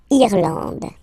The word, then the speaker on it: Irlande: Okay, A-N, D, and final E, not pronounced. Irlande.